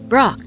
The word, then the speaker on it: Brok: It's Pork, of course. BROK. No. BROK, Chief. I thought you knew each other well. Yes. What? Just what I thought. You can't pronounce it.